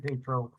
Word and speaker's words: Tatro: It's pronounced Tatro with a long A.